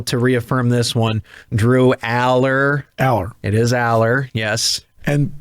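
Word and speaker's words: Allar: what it was interesting so it's allergy because it's alar and no no tyler drew aller and was in the pronunciation guide too for the uh the rosters as aller yeah yeah because that's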